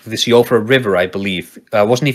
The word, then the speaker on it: Siofra: I think I've seen it pronounced Shifra as well, if you're getting into like Gaelic and Irish pronunciations, but I mean, Siofra is how I said it for a very long time.